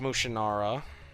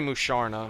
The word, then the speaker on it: Musharna: Vile against Mushinara. I always used to call it Mushinara, but it's really Musharna. I learned that from the anime.